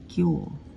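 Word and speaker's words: 今日: এরপর এটা দিব এইটা মানে হল টুডে বা কিউ উচ্চারণ কি?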